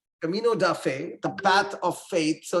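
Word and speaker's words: Caminho da Fé: is Brazil 135 uh is that the right pronunciation Camino De Fe is that right yeah yeah you got it right Camino duffe the path of Faith so it's a pilgrimage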